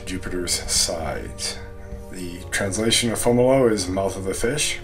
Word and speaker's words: Fomalhaut: it as a child i called it fomholt which isn't even correct for how it's spelled in english so fomolo is correct it's a brightest star